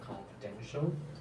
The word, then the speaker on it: confidential: I just say the pronunciation issue about the confidential, the stress syllable should be on the third syllable, and the formatting of the references section could be more clearer.